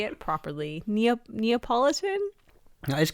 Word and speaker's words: Neapolitan: Neapolitan?